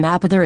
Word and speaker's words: Mapother: The name Mapother is pronounced like Maybather, only with a P.